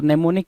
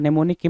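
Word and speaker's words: mnemonic: जरा ध्यान देना ठीक है एम साइलेंट हो जाता है तो नेमो निक की मीनिंग क्या है यहां पर जो लिख रखा है नेमोन की मीनिंग लिख रखा है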